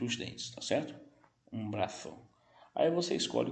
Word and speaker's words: brazo: Porque o Z, gente, no espanhol, ele terá a mesma pronúncia do C. Não tem som de Z. Por exemplo, nessa palavra eu não vou dizer brazo. Eu vou dizer braço.